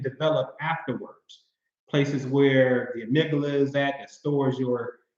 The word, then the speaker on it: amygdala: In the amygdala, I like to call her the Amy G Dollar because that's how you spell it. Amy G Dollar, D-A-L-A, amygdala.